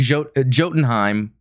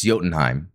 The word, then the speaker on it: Jotunheim: Jotunheim, but it's Jotunheim. The J is silent.